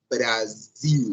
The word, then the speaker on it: Brasil: de seu aparelho ou na Dor para poder pronunciar de maneira adequada a palavra Brasil é assim Brasil 1 É sim Brasil e isso é fundamental